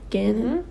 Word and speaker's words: Ganon: But yeah, Ganon, is that how you say his name again? Ganon. Like Canon.